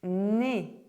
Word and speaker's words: nez: Où Where #10 - These consonants as the final letter of a word are silent in French: D, G, P, S,